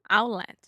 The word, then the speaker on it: outlet: in position to make the T sound and then you just don't quite do it your throat stops you and we just say output yeah yeah outlet yeah so if a Brazilian asked me how do you say that word if I'm really articulating I will say o outlet but no one actually says that we say outlet yeah